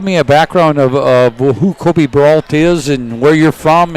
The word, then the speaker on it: Kobe Brault: the assistant general manager, Kobe Brault. Is that right, Kobe? I said it right? Yeah, you said it right. It's a bit of a weird spelling, but yeah, Kobe Brault, you got it right.